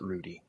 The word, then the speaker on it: Rheude: Germany it would be like but but we pronounce it Rudy mine's the same way in Germany or Tutti